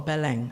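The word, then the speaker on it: Belém: So what happened in BM or Bang as it's supposed to be pronounced in the Brazilian way?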